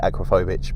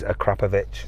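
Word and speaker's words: Akrapovič: exhausts a standard acrapovic I usually say acrophobic but they get upset if you say that it is a krapovic that's how you say it but you know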